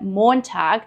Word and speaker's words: Montag: Der Tag means the day, and make sure to stretch the O sound in Montag. This is a long O vowel.